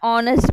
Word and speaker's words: honest: example he is an honest man H is silent but while we are